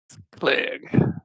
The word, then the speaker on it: Clegg: Clegg. Clegg sent you. You'd do well to remember. Varney, an easy way to remember it is his name rhymes with leg, like those table legs that you throw at people.